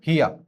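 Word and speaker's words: hear: हियर silent are silent हियर।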